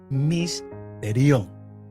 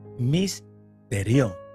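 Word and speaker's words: mysterion: En el griego la palabra es misterión. Misterión. Se escribe M-Y-S-T-E-R-I-O-N.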